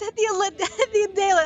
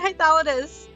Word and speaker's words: Hythlodaeus: It's Hythlodaeus. I've been saying Hythlodaeus.